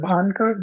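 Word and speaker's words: Bhangarh: know yeah it is called the place called bhangar a fort called Banker that's that's how you pronounce it so it's an MP it's a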